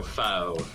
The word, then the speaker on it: faux: Faux or fox, it's spelled fox for in English. Oh, so faux.